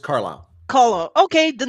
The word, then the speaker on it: Carlisle: that the state name how do you say that kaliste oh carlisle just carlisle caller okay the name